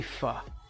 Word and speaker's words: pho: It's supposed to be pho. Pho. Pho. Like that. It's got like a little apostrophe thingy over the O.